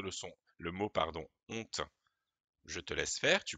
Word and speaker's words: honte: est dans le mot honte il y as au début une lettre muette comment s'appelle-t-elle le h mais le h ne se prononcent pas c'est ce qu'on appelle